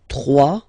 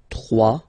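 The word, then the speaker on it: trois: 3. Final S not pronounced. 3.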